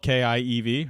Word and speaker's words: Kyiv: We learned how to pronounce Kyiv. I think it's Kyiv. Yeah, no, I think you're right. All right, spelled K-I-E-V, right?